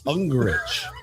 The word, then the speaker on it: Ungricht: Ungricht. The T is silent. What did you say? Ungricht? Ungricht. I thought the T was pronounced. Ungricht. Pretend there's no T there.